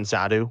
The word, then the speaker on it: Xatu: Is Is your next Pokemon Zadu, or is it not?